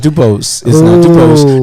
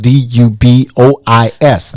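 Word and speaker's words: Du Bois: uh-huh no it's not dupos dubose is actually spelled d-u-b-o-s-e this is spelled d-u-b-o-i-s dubois so the s is silent that's right i love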